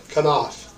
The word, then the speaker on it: Knauf: Knauf.